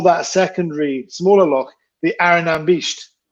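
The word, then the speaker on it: Airigh Nam Beist: Can you help me pronounce it? The Arinambisht. Yes. The Arinambisht, which is the name of, well, everyone thinks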